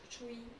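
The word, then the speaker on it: Tzuyu: avec les années que je ne savais pas prononcer son nom parce que moi je disais Tsuyu parce que ça s'écrit Tsuyu. Et puis non, Chewy. Je crois que ça se prononce comme ça.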